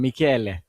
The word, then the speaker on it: Michele: think it's the musical sound, Michele.